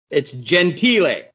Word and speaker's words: Gentile: because you know i always say your last name wrong but it's gentile gentile see i us americans you know a